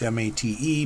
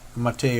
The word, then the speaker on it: MATE: It looks like it's spelled mate, M-A-T-E, but from what I understand, it's named after a soda pop from Brazil or something called Mate. I've never seen it or had it, so I don't know.